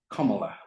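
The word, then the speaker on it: Kamala: 2018 and she says my first name is pronounced comma like the punctuation mark it means luxus flow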